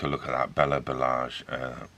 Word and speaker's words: Balázs: Now, I'm not sure how to actually pronounce that. Google says Balázs.